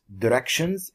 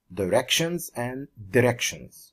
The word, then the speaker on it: directions: You can pronounce it directions and directions. Okay, both are correct.